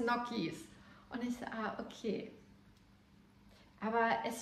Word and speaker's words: Gnocchi: ich jahrelang mosino gesagt da musste in der Tat eine Italienerin kommen und mir erstmal sagen heißt moskino heißt brusketta und das heißt nokis und ich okay aber